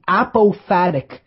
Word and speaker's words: apophatic: And this is called the apophatic inquiry method, or the apophatic definition. Let me spell that.